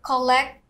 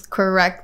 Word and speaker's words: correct: and l sound um i heard him say collect collect i think what he meant by that was correct meaning and correct correct me active act yes yes so again he exchanged he exchanged the r to l yes for an l sound so for the r